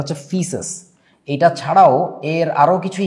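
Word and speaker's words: faeces: এটাকে ইংরেজিতে বলা হচ্ছে মিনারেল ফিসেস, ফিসেস উচ্চারণটা হচ্ছে ফিসেস।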